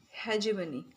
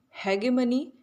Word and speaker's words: hegemony: In two ways this word is pronounced. The first in American hegemony, and in the second in British English.